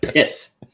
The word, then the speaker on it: pith: pith I got you watch how you say that p i t pith rhymes with Sith uh I I I